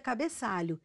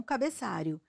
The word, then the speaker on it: cabeçalho: erro ao substituir fonemas O correto é cabeçalho e não cabeçário preste muita atenção à